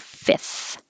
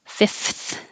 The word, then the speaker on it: fifth: whatsoever what's whatsoever and fifth is really difficult to make the f t h f so it's skipped a lot that first f is just skipped and it sounds like fifth if you want to be totally perfect fifth you can but you don't have to you can just say